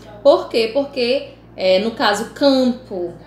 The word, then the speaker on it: campo: Porque, no caso campo, esse M ele não é pronunciado, esse M é para dar nasalidade ao AN.